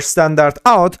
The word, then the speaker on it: stdout: And we also have the stdout pronounced as the standard output or standard out.